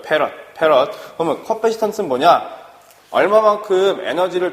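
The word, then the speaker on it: 패럿: 요놈의 단위는 우리가 F로 쓰고 요놈을 뭐라고 읽어? 페럿이라고 읽어요. 페럿.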